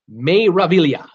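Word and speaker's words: Meraviglia: and it's you know those names don't pronounce the G means wonder may reveal iya the may reveal you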